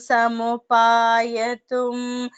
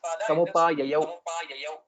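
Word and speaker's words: समुपाययौ: Iti vichintya sajatumi bahujalam saritam samupayatum jalam magahata tatra samagrahit jalacharascarani jalamiyushaha. Very good. Only the second pada, it is samupayayau.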